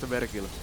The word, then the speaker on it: Vergil: It's actually pronounced Vergil.